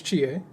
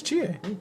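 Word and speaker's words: Chie: think it smells differently even no her name's Chia which one is GA the Green Jacket girl that does calling Foo and eats food it's spelled cheese yeah it's Chia it's c-h-i-e because everyone she's mid she's like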